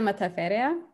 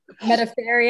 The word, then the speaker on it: Metaferia: aren't i uh matafera yeah you don't have to roll the r you can roll the r but not everything metaphary i've heard that's fine